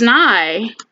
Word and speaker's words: nigh: is well, God is nigh. And they said nigh so it would rhyme with sky, but nigh is basically just a word that means near.